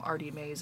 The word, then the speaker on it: Artymaze: I believe this is a free printable from Artie Mays as well. And it's spelled Artymaze, in case my accent is throwing you.